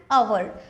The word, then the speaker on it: hour: Then इसको समझते हैं एन आवर। अभी देखिए ये जो एच है यहाँ पे साइलेंट है और ये जो ओ है उसका प्रोनाउंसिएशन आता है अ, it means it is vowel sound, okay.